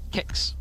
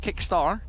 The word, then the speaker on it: KXCA: Not 100% sure how to pronounce that. Kicks. Kicks. Yes, not Kickstar, just Kicks.